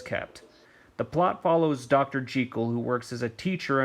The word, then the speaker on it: Jekyll: louis stevenson stated that the name is actually pronounced jekyll and not jekyll the film stars dennis dimarn and julia stratton